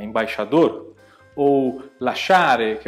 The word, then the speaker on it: lasciare: caso aqui, ambasciatore ou lasciare, tudo bem? O I não é pronunciado, ele faz parte para formar esse som. Então você fala diretamente cha, e nesse caso aqui você fala diretamente cha.